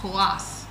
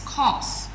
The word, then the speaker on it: coarse: Some people call it kass but it's coarse.